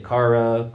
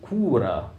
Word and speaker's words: Kaare: But I looked up the Norwegian pronunciation guide, and they were going with Kura.